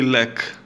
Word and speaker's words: lekë: in singular and plural you say lack without the not leki not like a just like one or ten on one million you just you pronounce lack it pronounced slack we put the the earth sound here beca only in the writing form but when you're talking to someone or explaining stuff you just say lack singular and plural it's uh it's